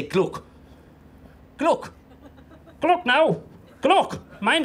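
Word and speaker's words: G'luck: She meant to say gluck. Gluck. Gluck now. Gluck. Mind yourself. G-apostrophe-L-U-C-K. That's how it's pronounced.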